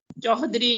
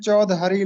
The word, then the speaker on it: چودھری: چوہدری لفظ کا صحیح تلفظ ہے سر؟ جی، یہ تو سب کو پتا ہے، چودھری لفظ ہوتا ہے.